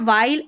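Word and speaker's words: while: वाइल पढ़ना है इसको वाइल क्या पढ़ना है वाइल एच जो है ना डब्ल्यूए में ये साइलेंट है तो वाइल बन गया यहां यहां पर हमारा ये जो स्पेलिंग है इसका उच्चारण इसको विल करके नहीं पढ़ना है आखिर में इ है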